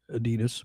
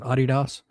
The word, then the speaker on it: Adidas: Most Americans say Adidas, but they pronounce it Adidas.